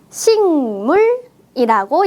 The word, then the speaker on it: 식물: 풀입니다 풀을 다른 말로 식물이라고 있 있습니다 방금 선생님의 발음을 잘 들었나요 어떻게 읽었어요 식물 아니에요 식물 식물 어때요 받침에 그 자음이 뒤에 있는 무 비음을 만나서 식물이라고 바뀌었습니다 그 자음은 응 받침으로